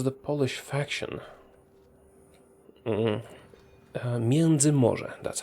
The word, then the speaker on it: Międzymorze: Międzymorze, that's how we pronounce that.